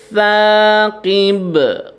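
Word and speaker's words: ثَاقِب: Jadi perhatikan di sini untuk sa itu makhrajnya ujung lidah dengan ujung gigi seri ya, ujung gigi seri. Jadi sa ya, gitu. An-najmus saqib.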